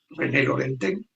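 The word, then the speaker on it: René Laurentin: la Virgen María de René Laurentín, René Lorentén se pronuncia, pues eh un uno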